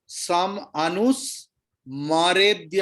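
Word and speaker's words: समनुस्मरेत्: म पूरा है, आप हाफ प्रोनाउंस कर रहा है। सम अनुस्मरेद्य, आप बोल रहा है समानुस्मृत्य, इसलिए तो आपको छंदस में फिट नहीं हो रहा है।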